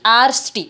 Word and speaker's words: आर्ष्टि: तो आर यहाँ देखिए, आर्ष्टि आर्ष्टि उच्चारण करने में एक एक्स्ट्रा रू आपको हमको सुनाई देता है, आर्ष्टिशेण। तो यहाँ पे जो ऋ है, तो ये रू स्वरभक्ति का ऋ है, और लिखेंगे पर